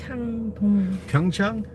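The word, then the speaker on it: Pyeongchang: Can you say it slowly, please? Chang. Like the place where they had the Olympics. Pyong, but Okay. So, you would spell that P Y E O N G. Pang. P Y E O N G. I I'll repeat. P Y E O N G C H A N G Chong Chang. And then the last syllable is dong.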